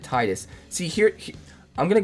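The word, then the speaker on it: Tidus: Sorry, everyone in the comments last time told me I needed to pronounce it Tetus. Um, but I don't know. When I was playing this game growing up and stuff, I always pronounced it Titus.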